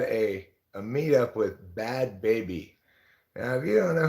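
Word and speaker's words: Bhad Bhabie: she she had a a meet up with bad baby now if you don't know who bad baby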